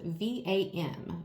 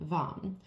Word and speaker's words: vam: It may sound funny, but it's spelled V-A-M, VAM. So the way this sounds when you are in meditation and when you speak it and chant it, it sounds like VAM, except instead of OM that we're used to